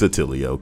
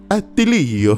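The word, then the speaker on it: Attilio: It's not Atilio because there's only one L, isn't there? So it's two T's and one L.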